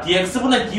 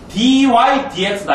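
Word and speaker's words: dy/dx: dx분의 dy 하면 죽여버린다. dy dx다. 알겠지? 알겠어요? 절대 dx분의 dy라고 읽으면 틀리는 거야. 이거는 나눈 게 아닙니다.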